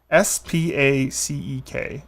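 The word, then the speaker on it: Spacek: So, Sissy is her name. Spaceek. Sissy. It is an unusual pronunciation, but you should be able to get there.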